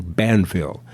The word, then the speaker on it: Banville: his real name is john banville rhymes with danville but with a b john banville but he also writes